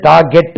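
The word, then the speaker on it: target: இப்படி ஒரு வேர்ட் இருக்கு நாங்க படிக்கும்போது இது டார்ஜெட்ன்னு உச்சரிச்சோம் ஆனா இது டார்கெட் தான் டார்கெட் நாங்க படிக்கும்போது டார்ஜெட் சொல்லிக்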